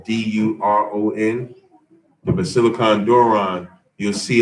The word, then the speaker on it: Doron: Doron is Duron.